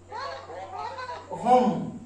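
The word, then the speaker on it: home: ও এম ইচ ও এমই এর জন্য কি উচ্চারণ হবে হম আচ্ছা তাহলে দেখো ও এমই এটা আমার ওয়ার্ড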